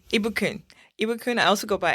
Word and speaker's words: Ibukun: Ibukun. Ibukun, I also go by IBK. I saw that. So first I'm going to try Ibukun, right?